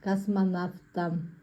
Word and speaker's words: космонавт: Произносим правильно. Космонавт. Пишем В, произносим Ф. Космонавт.